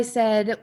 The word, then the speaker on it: Seo: My last name is pronounced S-E-O, but pronounced like Sa as an. So it's confusing because it's pronounced nothing like it's spelled. But if you ever hear